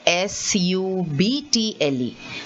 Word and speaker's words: subtle: subtle see this word s-u-b-t-l-e the b is not said at all there you say subtle